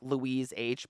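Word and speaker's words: Loish: and her name is Lois I think is that how that's how you say it l-o-i-s-h or it's l-o-u-i-s-h it's actually like Louise H but lowish whatever and she just had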